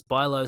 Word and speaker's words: Bijlow: I watched the game this morning, and the commentator pronounced it BIJLOW. Really? There you go. Yeah. Buy low, sell hay.